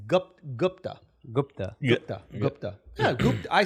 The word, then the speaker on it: Gupta: know i carry it properly how do you pronounce his last name gupta it's gupt gupta gupta gupta yeah i say gupta i think